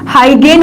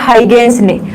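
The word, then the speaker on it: Huygens: हाइगेन बोलते हैं इसको, हाइगेंस, हाइजेंस भी बोलते हैं कोई, लेकिन इसका सही प्रोनाउंसिएशन होता है हाइगेंस ने।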